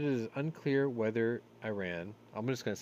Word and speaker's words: Iran: it believes i ran i ran i ran so far away wow let me do it correctly the white house says it believes iran that's that's the way that's the proper way to say it is planning to supply